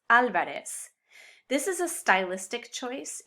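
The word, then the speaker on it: Álvarez: they're called for so whether it's written with or without the accent this last name would be pronounced alvarez this is a stylistic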